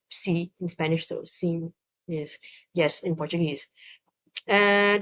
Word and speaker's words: sim: I think it's more like sim, because it's more of a nasally sound at the end.